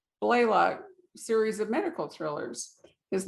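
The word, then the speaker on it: Blalock: was it blaylock or blailock how did we pronounce it blaylock blaylock series of medical thrillers his novels have been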